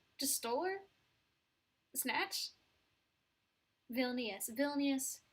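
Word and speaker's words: Vilnius: stole her snatch villus villus is how you pronounce it in my head I say villainous because when I would play the um um the capital the European Capital game on satara geography I didn't have the voice on it first so I would just say villainous in my head and I knew it was wrong and I know it's wrong it's villainous although I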